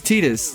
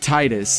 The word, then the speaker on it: Tidus: It's a Japanese name. It's Tidus is his It name. is Tidus. But everyone will die by Titus. They want to say Titus, and I Well, was that's like, because they're well, stupid Americans.